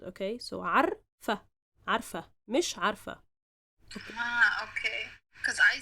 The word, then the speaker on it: عارفة: But when we say it in the feminine form, we just, say it quickly.